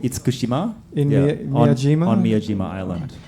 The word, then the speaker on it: Itsukushima: It's if my pronunciation is correct, Itsukushima? Yeah, the shrine is called Itsukushima.